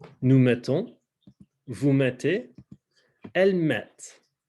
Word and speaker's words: mettent: So again, je mets, tu mets, elle met, nous mettons, vous mettez, elles mettent. Same thing with pronunciation where you're not pronouncing the ENT.